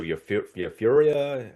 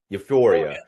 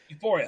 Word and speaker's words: Euphoria: Yuria. I can't I'm not pronouncing it right. Euphoria. Euphoria.